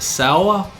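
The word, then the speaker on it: Saor: remind me of a band called sour sours that's how you pronounce it it's folky black metal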